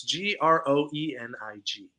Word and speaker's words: Groening: I don't know how to pronounce his last name. It's Groening.